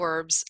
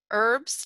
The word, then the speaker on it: herb: And the British actually pronounce the word herb with an H.